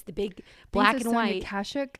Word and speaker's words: Kashuk: I don't know how to pronounce it. It's from Target. It's the big black and white. Kashuk? Kashuk.